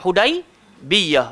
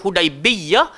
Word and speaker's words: Hudaibiyah: bersama dengan kami dekat hudaibiyah ee saudari dua jenis bacaan satu hudaibiyah satu hudaibiyah cuma ramai yang lebih membacanya tanpa tasjid tapi kedua-duanya bacaan boleh dibaca hudaibiyah ataupun hudaibiyah Oke jadi satu pagi